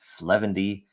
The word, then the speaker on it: 0xf0: update show this is episode 0xf0 pronounced fendy this is the 241st